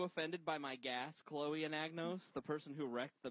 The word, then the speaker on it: Anagnos: So it's ananas. Anagnos. That's how you say pineapple in French. Ananas. No, it's anagnos.